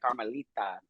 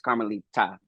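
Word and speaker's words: Carmelita: okay because like I I did like the softy like carita but it's carmalita yes I prefer that I just don't do carolita people be like duh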